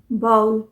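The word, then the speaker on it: bowel: ये बी ओ डब्लू ई एल इसे कैसे प्रोनाउंस करेंगे बोल इसका सही प्रोनंसिएशन है बाउल बाउल क्या होता है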